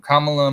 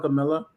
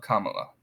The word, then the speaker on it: Kamala: I call her Camilla. I know that's wrong. It's Kamala, Mamala. Just rhyme it with mom. Mamala, Kamala.